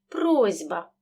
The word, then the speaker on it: просьба: у парний дзвінкий вокзал слові просьба глухий сі перед дзвінким б він теж переходить у парний дзвінкий просьба слід пам'ятати що уподібнення приголосних